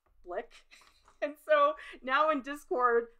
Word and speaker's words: Blick: big art supply store blick you know how they used to be called rhymes with ick blick and so now in